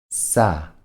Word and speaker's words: 싸: 쓰 – ㅏ => 싸 – 싸 'Sa' se pronuncia de manera similar al sonido inicial de palabras como signo o sur.